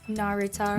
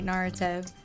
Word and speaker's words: Naruto: How do you pronounce it again? Narutar. Naratar. No, sorry. Naruto.